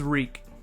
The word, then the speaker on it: Reek: My name is Reek it rhymes with Freak.